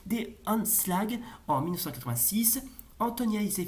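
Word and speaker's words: De Aanslag: Glass, Hanstra en 1959, L'assaut des attendez, en hollandais traditionnel, ça se prononce des Anslag en 1986, Antonia et ses fils en 1995 et Carateur sorti en 1997.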